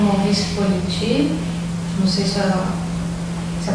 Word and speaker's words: Maurice Politi: Hoje é dia 27 de outubro de 2008, entrevista com o Maurice Politi, não sei se a pronúncia está correta.